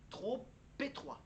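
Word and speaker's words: trop étroit: abri ancien abri et pour par exemple la liaison entre trop t r o p et le mot étroit il faut prononcer le p faut lier le p au au mot étroit trop p trop p je bien je suis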